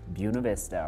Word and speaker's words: Buena Vista: there and you know i'm a native of buena vista because i pronounce it buena vista right there right there